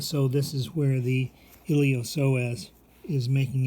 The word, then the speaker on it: iliopsoas: Okay, the P in psoas is silent, so we say iliopsoas, and then we also say psoas major.